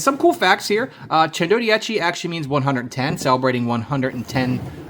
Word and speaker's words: Centodieci: Introducing the LEGO Speed Champions Bugatti Chendodia. And yes, I had to look up the pronunciation of this set online.